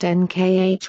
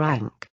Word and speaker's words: Ankh: From the breakthroughs of translations we know the symbol was pronounced NKH or Ankh. The A is disputed and may have been added for convenience of pronunciation.